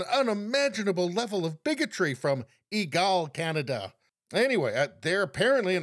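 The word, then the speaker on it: EGALE: can watch let's see igal I think it's pronounced egal egal Canada an organization for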